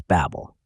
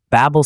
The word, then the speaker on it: Babel: In Hebrew, Babel sounds like the word Balal, which means to confuse.